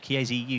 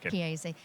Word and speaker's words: Chiesi: For those who don't know, who are Chiesi UK? Have I pronounced that right? Sorry. Yes, you have. Excellent, Chiesi.